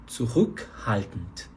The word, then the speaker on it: zurückhaltend: Zurückhaltend. Sílaba tônica tá nesse Ü, né? No U-Umlaut, né?